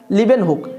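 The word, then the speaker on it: Leeuwenhoek: লিওয়েন হক বলে নেই লিওয়েন হক হলো আসল উচ্চারণ কিন্তু তোমাদের বইয়ে যেটা লেখা আছে সেটা হচ্ছে লিভেন লিভেন হুক বলে লেখা আছে লিভেন হুক লিওয়েন হক টাকে লিভেন হুক বলে তোমাদের বইয়ে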